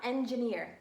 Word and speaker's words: engineer: we're gonna sound out engineer and like elephant is e mmm Jeff Jeff Jeff this is a tricky one because it's not a J but it's a soft G I mm-hmm and ear